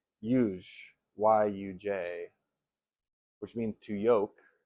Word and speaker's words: yuj: And it comes from the root syllable yuj, Y-U-J, which means to yoke.